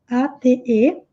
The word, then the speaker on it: ate: Exatamente a mesma pronúncia que o número 8 é o passado do verbo comer.